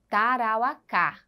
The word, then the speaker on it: Tarauacá: e por último carauacá Leão aí observe a seta Tarauacá Olha aí vejo que nós já temos aí o assento e nós temos aí a última sílaba se ela tem a última sílaba como a sílaba tônica ela é chamada de oxítona essa é uma classificação